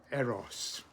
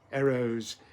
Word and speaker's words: Eros: The Greeks, of course, pronounced him quite differently. Instead of saying Eros, they said Eros. The first syllable short, the second long. Eros, they called the god of love, not Eros like we do.